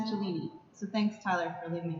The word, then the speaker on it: Cellini: So it's pronounced Cellini.